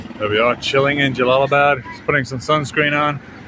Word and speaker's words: Jalalabad: I'm on the way to Kabul, but I'm on Jalalabad, or Lahalabad. Jalalabad, I can never pronounce it. So this is halfway between the border of Pakistan and Kabul. Jalalabad, that's the one, Jalalabad.